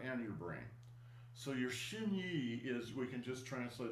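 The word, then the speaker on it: xin: words for that are shiny and nong. Shiny means your mental intention. All right. And it's actually made from two words. Shin shin x i n means your heart.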